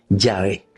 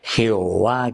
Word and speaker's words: Yahvé: el nombre Yah porque algunos por ahí te dicen Jehová que esto aquello y ese es un error este gramatical que existe en la Biblia a propósito hecho por los masoretas.